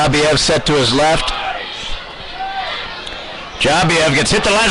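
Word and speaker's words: Dzhabiyev: Now, I'm going to tell you his last name is Jabiev. Jabiev. His first name is Vlad. So Vlad Jabiev. This is how you spell his last name. D-Z-H-A-B-I-Y-E-V. And that's pronounced out is Jabiev.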